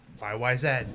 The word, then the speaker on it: YYZ: Chris was playing it YYZ YYZ by Raj yeah and yes it is pronounced YY Z they are Canadian they are very is